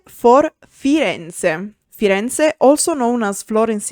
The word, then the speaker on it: Firenze: F for Firenze.